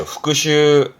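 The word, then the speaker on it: 復習: 발음은 그렇죠. 후크슈, 후크슈.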